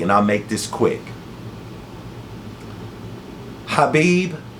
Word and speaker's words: Khabib: Hhabib or Khabib if you're American like me and we're slow to how you pronounce people's names or the way they pronounce it.